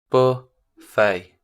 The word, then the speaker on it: buffet: o nope buffet uh it's a french word i like that oh